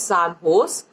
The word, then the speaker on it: San Jose: this recently sand hose the spelling is si n Jo se but you have to pronounce it it's as San Jose State University of which